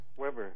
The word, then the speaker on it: Webre: Alfred, is it Webre, or how do you pronounce it? Weber. Weber. I'm sorry, it's mistyped here. Alfred Weber is with us. No, that's a Louisiana French name.